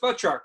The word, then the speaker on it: Batroc: Soldier at very beginning it's pronounced boat truck right Batroc the leaper